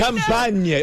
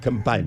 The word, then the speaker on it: Campania: Campania. Oh, you illiterate Americans, you. The region of the Amalfi Coast is where they. That's called Campania.